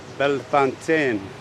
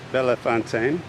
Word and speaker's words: Bellefontaine: And by the way, that is how it's pronounced, the French way. I talked to the people here. Bellefontaine, not Bellefontaine, but whatever you like.